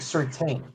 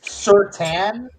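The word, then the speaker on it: Surtain: We were calling him Patrick Certain. We didn't learn that it was Certan and you're not supposed to pronounce the I in his name until like the last two years of his career.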